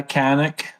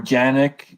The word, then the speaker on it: Canik: of the cheaper models I've had a Canik or janic if if you want to pronounce it properly it be janic yeah um I I shot